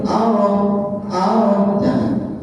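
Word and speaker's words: الرحمن: Sekali lagi ditekan alas asyamsiyah itu bicara bacanya ditekan ar jangan langsung dibanting arrahman arrahmanirrahim coba ditekan dulu arrah arrah ar arrah Arrah arrahmanirrahim.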